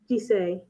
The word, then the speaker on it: GISEI: copy of remind me how to say it, GISEI? GISEI, yes. GISEI, okay.